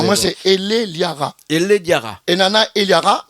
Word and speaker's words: Elleliara: écrit, Miguel bien écrit, comme il prononce, c'est pas bon. Non, alors c'est Eliara.